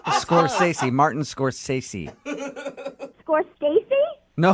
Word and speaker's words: Scorsese: It's Scorsese.